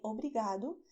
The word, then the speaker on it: obrigado: Pay attention that in Portuguese we have this sound of the letter R which is "OBRIGADO". In English, you roll your tongue when you say, for instance "rice". When you say "rice", your tongue bends backwards. And in Portuguese, we do not do that, even though in some regions people do that.